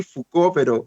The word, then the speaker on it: Foucault: Igual lo voy a deletrear porque ustedes saben, es un apellido en francés que uno lo pronuncia así, Foucault, pero no se escribe